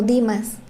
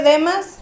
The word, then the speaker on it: Demas: Este y bueno, yo lo conozco como Dimas. Sí, es que se escribe Demas, pero no sé si pronun Dimas.